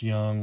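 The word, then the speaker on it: Jung: But Josh Young, it's pronounced Young with a J.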